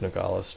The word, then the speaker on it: Nogales: to do that um or nogales which i know it's nogales but what fun is it if you can't butcher the name right 4-2 print i got